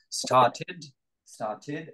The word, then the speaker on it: started: donc started verbe régulier started avec une prononciation en ID donc James comment ça